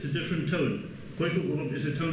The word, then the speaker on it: Khoekhoegowab: And by the way, people, please don't ever use the Afrikaans pronunciation of OE. It's not Khoe, it's not Khoekhoegowab, as I hear. We come to the language, it's Khoekhoegowab.